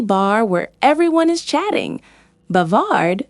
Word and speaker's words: bavard: He is bavard. Here is a trick to remember. Imagine a noisy bar where everyone is chatting. Bavard sounds like bar.